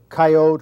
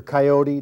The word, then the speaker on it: coyote: is a red fox this is a coyote or coyote depending on how you want to pronounce it but I ask the